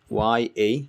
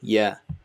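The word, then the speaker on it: ي: Then you have ya, and this is also ya. Both of them are ya. Just like in English, you would say ya, ya. So it's that sound.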